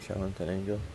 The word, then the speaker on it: Chalatenango: the highway to Chalatenango, is that how you pronounce it, Chalatenango? Yeah.